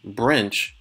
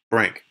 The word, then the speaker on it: Brink: You know, this entire time I thought it was pronounced Brinch because there's a CH at the end. And generally, when there's a CH in the English language, it's pronounced ch. So, didn't quite get that, but now I know. It's Brink.